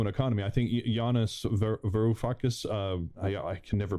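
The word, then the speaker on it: Varoufakis: me that's also an economy i think giannis verufakis uh yeah i can never pronounce his last name giannis verafucus verafucus that's it i i think it was kind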